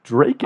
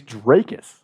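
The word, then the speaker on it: Dricus: I think it's Drakus. I keep hearing Dreykus too. Dude, I think it's Drakus. it's not Dreykus. I hear Drakus.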